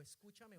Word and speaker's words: escúchame: Usted no dice escúchame algo o escúchame una cosa. Usted tiene que anular la primera sílaba. Usted dice escúchame una cosa. Repitan, escúchame una cosa.